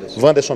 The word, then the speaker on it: Vanderson: Vanderson ou Anderson, qual a melhor pronúncia? Vanderson mesmo, que é conhecido como